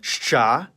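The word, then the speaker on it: Щ: It's called shcha. And like its name, it makes the sound sh.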